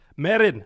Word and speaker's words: Meren: Alex Kessler is here and he's brought his Marin of uh Clan Nel Toth did I say that correctly yeah no you have to say it like this Marin of Clan nto to to okay with that